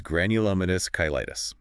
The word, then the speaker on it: Granulomatous Cheilitis: mystery with a name you might need help pronouncing you know I love a good challenge late on me it's granulous kytis okay yeah that's a mouthful but it sounds